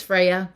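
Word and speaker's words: Freyja: Freya? F-R-E-Y-J. It's Freya. It's a goddess name.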